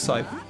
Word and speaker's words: scythe: Like Manny Calavera has in Grim Fandango, this scythe. So, I'm not sure how you pronounce it.